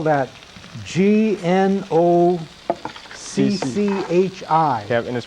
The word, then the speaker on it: gnocchi: it's really just personal preference but um you spell that g-n-o-c-c-h-i kevin is pronounced gnocchi i'll just uh g